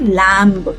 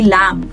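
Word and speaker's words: lamb: This one will not बी लैंब। It will be लम।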